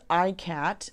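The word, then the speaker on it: Ikat: So we went with ICAT, which is spelled I-K-A-T.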